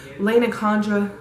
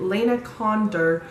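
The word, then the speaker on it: Lana Condor: Lena Condra, I did not say her name right, Lena Condor, posted about it.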